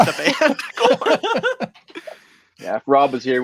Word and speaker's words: Gorn: Yeah, you had corn. Yeah, but it spelled like the band. Yeah. I was about to say like the band. Gorn.